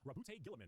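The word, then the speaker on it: Roboute Guilliman: Allegiance, Loyalist, Primarch, Rabute Gilliman, that's how it's said.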